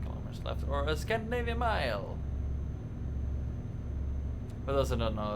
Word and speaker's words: mil: Or a Scandinavian Mile! For those who don't know, a Scandinavian Mile is 10 kilometers. And we use it, we pronounce it mil, and we spell it M-I-L.